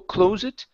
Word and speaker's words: closet: word claw a closet instead of Cl closet it's an a sound closet okay closet good I